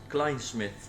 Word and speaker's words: Klijnsmit: saying right now let me make sure I'm pronouncing this right cment Klein Smith Klein say it one more time Klein Smith kith I'm thinking about just using The Branding